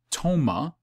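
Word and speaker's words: πτῶμα: omega mu alpha okay toma which i guess you wouldn't pronounce the p tomah is carcass in matthew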